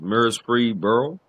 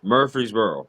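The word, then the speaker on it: Murphysboro: Uh, I'm going to butcher the name again, but it's Mir I think it's Mir Freeboro. Mur Murphy'sboro. Murphy'sboro. Yeah. Murphy'sboro. Um, yeah.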